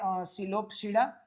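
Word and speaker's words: Psilopsida: Okay, मैं इसको लिपोप्सीडा बोलता हूँ, यू कैन से सिलोप्सीडा, इज it right? Okay, यहाँ पर P अकेला साइलेंट है, इट इज सिलोप्सीडा, then लाइकोप्सीडा, then स्फिनोप्सीडा and then टेरिडोप्सीडा।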